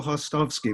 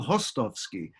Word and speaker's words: Hostovsky: Yes, you did, Hostovsky. Well, my father, who was Czech, he would pronounce it Hostovsky, but the Americanized version is Hostovsky, Hostovsky.